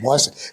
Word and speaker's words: Wasiak: Wasiak. It's a good Polish name.